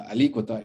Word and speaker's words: alícuota: de febrero la o el acento en la palabra alícuota está en la letra y por lo cual la palabra se pronuncia alícuota una alícuota cómo desafortunadamente